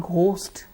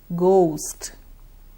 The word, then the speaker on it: ghost: mango next ghost ghost it's not ghost okay the gh is a big girl and the O should be elongated ghost going going no no